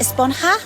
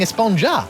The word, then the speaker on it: Esponja: huh actually it's pronounced espanha with an h sound at the end really but we've all been saying esponja yes i know it's